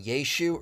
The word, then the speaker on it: Yeshu: Actually, if you were speaking Aramaic in 1st century Galilee, the most likely pronunciation would have been Yeshu or Yeshu.